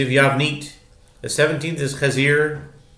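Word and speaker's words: חזיר: The 17th is Chazir? That doesn't sound. Chezir. But it's spelled like Chazir. It's spelled Ches Zayin Yud Reish.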